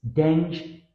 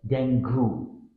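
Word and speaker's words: dengue: Deng, dengi. Which one is it? It's dengi, often pronounced as it's spelled dengu. This word should sound like dengi. Common error, dengu. Tip, think of the word dingy and replace the I with an E sound, dengi.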